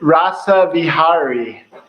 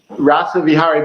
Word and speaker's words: Rasaviharii: I believe your name is pronounced Dr rasa is that it in uh so this in rasa vihari rasa vihari but you can just call me rasa for